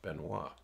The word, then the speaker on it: Benoit: me no way and her last name was be e and oh I T and it was pronounced Benoit okay so I that